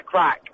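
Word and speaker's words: craic: a bit of a crack. It was really good. You had some what? Sorry, that's an Irish expression. Yes. We went out and had a crack. But the Irish spell crack C-R-A-I-C.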